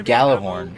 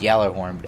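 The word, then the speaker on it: Gjallarhorn: back to where the gala born or it's actually pronounced yellow armed influences gala horn where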